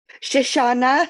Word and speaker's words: Shoshana: we have what's your name how do you pronounce it sorry Shoshanna here um and yes um she's going to